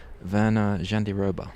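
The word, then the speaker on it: Virna Jandiroba: Mackenzie Dan and how do you pronounce her name? Verna Jandiroba.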